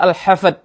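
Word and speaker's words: al-Hafd: dari lafaz naklau lafaz Yang kedua juga bukan Hafiz atau surah Hafiz dengan D tetapi dengan Dal yaitu surah alhafad ha Fa Dal bukan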